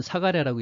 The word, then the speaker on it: 사가랴: 연로한 제사장 부부, 이 스가랴 또는 사가랴라고 읽기도 하죠.